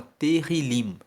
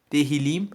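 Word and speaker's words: Tehillim: o livro de Salmos no hebraico se chama terril se escreve t e h i l i m teril significa louvores Então os salmos para os Judeus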